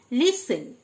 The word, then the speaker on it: listen: লিসেন, LISTEN, লিসেন, মানে শোনা, টি silent.